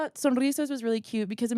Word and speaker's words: Sonrizas: I was like, okay, people who don't speak Spanish, if they see a Z, that's gonna make them want to say like Sonrisas. That's why I say it which like is closer. Sonrisas.